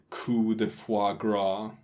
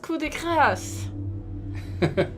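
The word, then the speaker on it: coup de grâce: to deliver the line that Dux delivered the coup de foie gras. Don't hit me. It's pronounced coup de grace.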